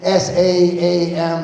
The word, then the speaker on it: Saam: It's pronounced like in the Bible, only it's spelled differently. See, it's S-A-A-M, Saam.